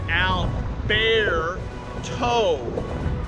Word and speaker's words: Alberto: Again, my meteorologist friends have all kind of told me that I'm still pronouncing it wrong. It's Alberto.